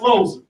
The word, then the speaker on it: Loser: It's spelled loser, but it's pronounced loser.